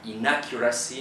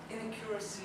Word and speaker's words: inaccuracy: opposed to origin and inaccuracy instead of uh inaccuracy instead of I think you were saying in accuracy inaccuracy yeah so inaccuracy oh yeah put the accent on the on the a you also say Civics